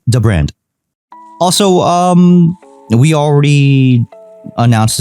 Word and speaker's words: dbrand: like we've learned later learned that it's not pronounced deep brand it's called the brand the brand is that right oh yeah interesting